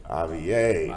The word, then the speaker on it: A-VIE: Like, how do you pronounce the name of your line? A-VIE. A-VIE, that's what's up.